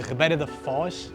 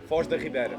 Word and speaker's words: Foz da Ribeira: If you watched our last video, you know we were here at Faial de Ribeira de Foz. Is that how you say it? Foz da Ribeira.